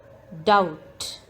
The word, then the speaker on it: doubt: in this word handkerchief doubt the letter b is silent in this word doubt him the silent